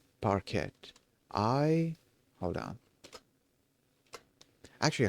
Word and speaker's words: parquet: Parquet like butter like the butter substitute or the hardwood floor. Okay. What was I saying? Yeah. Okay. Uh the T the T at the end is silent.